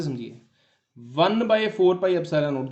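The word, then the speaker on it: epsilon naught: इसको समझिए, इसको प्रोनाउंस करते हैं एप्सिलॉन नोट, EPSILON नोट।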